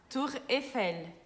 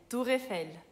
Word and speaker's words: Tour Eiffel: Aqui no Brasil a gente fala Torre Eiffel, mas lá na França é Tour Eiffel. Na palavra Tour Eiffel tem o U juntos, que é o nosso som de U, Tour, e tem o R no final, né, que é aquela coçada da garganta, de sempre.